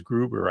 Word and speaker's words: Gruber: Leadership That Cares, and her last name is Gruber. I think, did I say that right, or did I screw it up? Yep, you said it right.